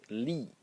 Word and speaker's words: 力: And the second element in this character is this one which is pronounced Lee and it is force force or strength.